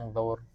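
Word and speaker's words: انظر: Unzur. Kenapa bacanya pakai U bukan I? Kan di ininya U. Mana? Di huruf ketiganya U.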